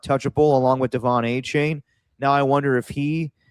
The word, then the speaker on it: Etienne: So if you just say, yeah, my name is spelled ETN, but I pronounce it Achane, then we definitely would have went along with that.